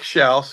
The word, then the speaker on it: Shouse: Yeah, it's uh my name Shouse and it's spelled like house with an s in the front.